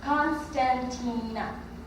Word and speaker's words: Constantina: i'm 14 years old in english the way you pronounce my name is constantina but many people just